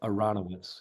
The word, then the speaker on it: Aronowitz: And Al, I want to get the pronunciation on the surname right. Is it Oh, yeah, Aronowitz.